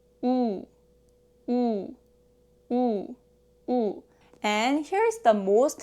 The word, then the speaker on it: 우: O 우.